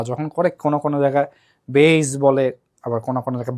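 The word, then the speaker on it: Bayes: আমরা বাংলাদেশ বিদেশীরা কিভাবে বাংলাদেশ বলে তো এজন্য বেস বায়াস এটা আসলে যে কি এটা আমিও 100% জানি না বইতে বিভিন্ন রকম বাংলা যখন করে কোন কোন জায়গায় বেস বলে আবার কোন কোন জায়গায় বায়াস বলে টিচাররাও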